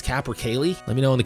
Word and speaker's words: capercaillie: I think I'm saying it wrong. I was saying capercai. I thought the L's were silent. I was totally wrong about that. I think it's capercaillie.